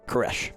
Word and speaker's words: Koresh: Koresh. Koresh. Because I know it's spelled. It is a old Persian name, pronounced as they would have and not in the Americanized way.